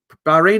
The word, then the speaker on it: Bahrain: Church in Bahrain uh Bahrain is pronounced like rain were right ah good